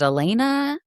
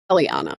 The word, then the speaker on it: Eliana: So again, going to the background checks for how does she pronounce her name? Is it Elena? Eliana. Eliana. Okay, for Eliana, um, she has a corporation registered to her, an LLC in Nevada.